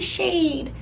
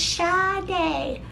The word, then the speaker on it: Sade: like, my name isn't Shade, it's Sade. And like, even to this day, like, when people call me Shade, I just look at them like, you think that that's how it's supposed to be pronounced?